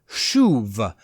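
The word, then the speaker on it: שוב: etc., is the word shuv. It's spelled S-U-B with a whole bunch of little lines and marks all around those three letters, and it gives you the word shuv, which literally means to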